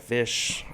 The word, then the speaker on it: Ghoti: ti like a nation it would be pronounced just like fish bam we got it